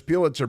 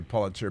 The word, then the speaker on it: Pulitzer: of Manhattan, you say Pulitzer because, your grandfather went to Princeton with one of the Pulitzers, so you say Pulitzer. But we call them Pulitzers because that's the way it's the common pronunciation, even if they're not common people.